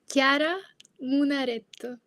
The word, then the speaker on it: Chiara Munaretto: Now, how should I have said your name? Maybe we could start there. Maybe because I like hearing it in your accent much better than the way I said. Chiara Munaretto. Yes. So what she said, that's her name.